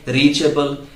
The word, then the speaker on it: reachable: अगर हम बात करें रीचेबल, जैसे आपका फोन रीचेबल नहीं है, your phone is नॉट रीचेबल, इट इज नॉट रीचेबल। Last में जब ABLE आ गया सो उसको आपको प्रोनाउंस करना है बल, रीचबल।